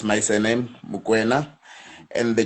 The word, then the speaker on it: Mokwena: So back in the years, my American friends, they couldn't pronounce my surname. They couldn't say Mokwena, so they kept on saying McQuena, McQuena. Like the George, it's properly said, but the surname it's McQuena.